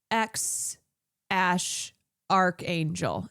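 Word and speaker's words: X Æ A-Xii: X Ash archangel is how it's pronounced.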